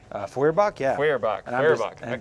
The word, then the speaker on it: Feuerbach: And then up front, we have a proxied crit Kokram with a, how do you pronounce it? Furbach? Feuerbach, yeah.